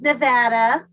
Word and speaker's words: Nevada: Did I say it right? Nevada? No, it's Nevada.